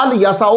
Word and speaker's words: إليسع: آپ پڑھ سکتے ہیں، اور آپ الیسع بھی پڑھ سکتے ہیں، کیونکہ عیسائیوں کو میں نے الف پر زبر پڑھتے ہوئے سنا ہے جی، وہ بھی عربی بولتے ہیں۔ کچھ معنی اور تلفظ